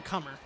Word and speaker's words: Coomer: sent back from Kate Coomer and actually I was correct uh Anna reuter on uh YouTube confirming it is pronounced like Colin cummer Kate cummer that is correct okay